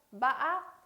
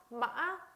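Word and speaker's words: mã: 약간 꺾이듯이 위로 상승되는 음으로 발음을 하면 돼요. 응아라고 발음을 하고요. 요거는 단어를 볼게요. 마아, 마아 하고 이렇게 약간의 상승되는 그러나 꺾임이 심한 거.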